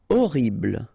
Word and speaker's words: horrible: Horrible. Okay, remember we don't pronounce H here.